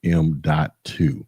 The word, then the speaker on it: M.2: Yes, it is pronounced M.2 form factor SSD hard drive.